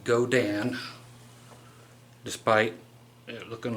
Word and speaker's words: Godin: And yes, the company is pronounced Godin, despite it looking like Godin, as some people here on the internet pronounce it.